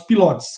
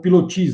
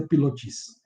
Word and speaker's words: pilotis: dele, o uso dos chamados pilotes, colunas ou pilotis, né, da pronúncia. Né? Para nós aqui mais é pilotis.